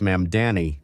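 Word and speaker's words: Mamdani: Well, like Ma'am Danny, even though I've said his name so many times, I always want to mispronounce it for some reason. But anyway, it's Ma'am Danny.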